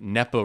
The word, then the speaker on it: NEPA: And this is I think it's usually pronounced NEPA.